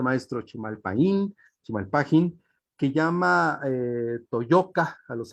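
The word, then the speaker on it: Chimalpahin: ¿Cómo se pronuncia, maestro? Chimalpajín, que llama Toyoca a los habitantes de esta tierra.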